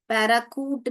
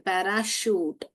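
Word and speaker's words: parachute: anchor anchor दूसरा वाला देखिए देखिए पैराशूट शूट यहां पर पैरा चूट नहीं बोलते हैं हम च निकालते हैं चूट नहीं है शूट बोलते हैं हम पैराकूट भी नहीं बोलते हैं पैराशूट समय हो गया है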